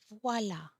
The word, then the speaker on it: voilà: When the accent grave is on the A, it's the pronunciation doesn't change. You still pronounce A. A. Voilà.